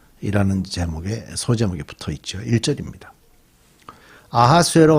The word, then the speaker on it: 아하수에로: 히브리어적으로 발음을 하면 아하수에로가 되고, 헬라적인 발음을 하면 크세르크세스가 되는 그런 발음이 되죠.